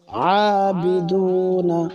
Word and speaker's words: عابدون: আনতুম ওয়ালা আনতুম আবিদুনা আ আইন এক আলিফ লম্বা খারা জবর আবিদুনা দুনা, এখানে মাদের হরফ পেশের বাম পাশে জজমলা ওয়াও মাদের হরফ এক আলিফ লম্বা। ওয়ালা আনতুম আবিদুনা মা আ'বুদু,